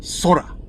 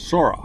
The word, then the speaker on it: Sora: Everybody says Sora. OpenAI's new generative AI video service, Sora. And I'm like, no, it's obvious that it came from the Japanese word Sora, which means sky.